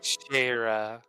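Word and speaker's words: Schera: please God pronounce slower sharah sharah okay the sea silent Shar and shar's gone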